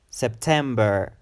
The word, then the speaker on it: September: year is September September September it's a three syllable word September September and the emphasis is on the second syllable ten and September September